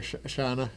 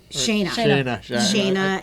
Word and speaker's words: Shayna: I always say the name wrong, Shana. Shayna.